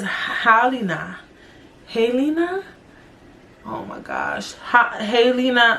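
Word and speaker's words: Halyna: I just thought her name was Haley. It says Halina.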